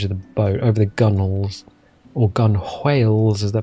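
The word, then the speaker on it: gunwales: the boat, over the gunnels. Or gun whales, as they're pronounced. Well, they're written gun whales, but they're actually pronounced gunnels.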